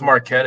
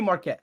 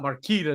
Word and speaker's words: Marquette: I I could see Marquette I can see that call it Marita oh no not Marquita don't do that to me marquetti not Mar uh for me I I